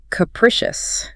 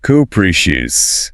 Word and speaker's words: capricious: Next up, capricious. Capricious. Stress on the second syllable. First one is a schwa.